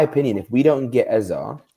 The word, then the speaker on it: Eze: That's a fair take, because in my opinion, if we don't get Eze, right? Yes, that's how you say his name, Eze. It's not Eze, you know what I mean?